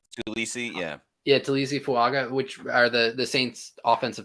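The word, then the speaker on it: Taliese Fuaga: Some of his best pass rushes were against Trevor Penning and I'm going to get his name, Tulisi Fuaga. Did I pronounce that right? Tulisi, yeah. Yeah, Tulisi Fuaga, which are the Saints offensive tackles, right?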